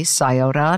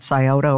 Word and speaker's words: Scioto: all of that and i learned how to pronounce things like the rivers olin tangi river not olin tanki sayoda not scioto river and i walked into that interview and